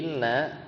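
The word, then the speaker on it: إنّ: Jadi inna yang hamzahnya itu maksurah. Jadi bacanya inna bukan anna ya.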